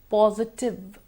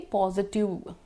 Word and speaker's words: positive: Positive. Positive. Negative. Negative. People tend to say positive. We have to make sure there's the ver.